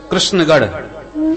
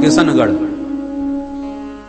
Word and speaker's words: कृष्णगढ़: भारत का प्रसिद्ध शहर है कृष्णगढ़, कहां कृष्णगढ़ कोई बोल ही नहीं पाता, किशनगढ़।